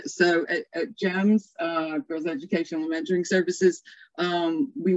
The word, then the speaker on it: GEMS: That said, from just our own work at GEMS, we generally don't pronounce the acronym, we pronounce it as the whole word. So at GEMS, Girls Educational Mentoring Services,